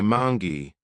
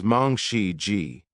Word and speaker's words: Mangshi Ji: Her name is often mispronounced. Some say Mangi, some say Mangi, but her real name is Mong Xi Ji.